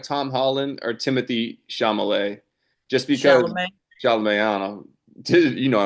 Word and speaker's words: Chalamet: Chalamet. Chalamet. Um, L before the M.